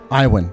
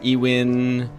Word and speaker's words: Iwan: everyone, the voice of Mickey Mouse now, Bret Iwan. I said it right. That's right. Good job. Yeah. Bret Iwan. Nobody gets that right. Really? What do they usually call you? Oh, Donald Duck? Iwan, Ewin, all over the place.